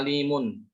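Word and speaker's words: عليم: Kalau berhenti pada kata alimun, apakah dibaca alimun atau alim? Nah, loh. Bacanya gimana? Alimun atau alim? Alim. Ya, alim. Mana tanwinnya? Tidak ada, hilang.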